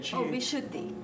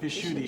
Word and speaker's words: Vishuddhi: So now, for instance, and how do you pronounce the throat chakra again? Vishuddhi. Vishuddhi.